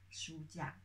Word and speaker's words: 书架: know, sign to, how to say, mark the pronunciation, because we have full sound, yeah. 架, 书架.